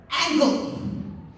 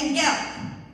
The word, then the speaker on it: Angle: but i had this professor named angle what she pronounces it angel frank was the one